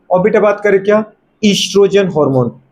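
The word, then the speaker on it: oestrogen: ईस्ट्रोजन hormone. वैसे ओ silent है, नहीं लिखना है तो मत लिखो, सीधा इससे स्टार्ट करो ईस्ट्रोजन, अदरवाइज उससे स्टार्ट होता है ईस्ट्रोजन।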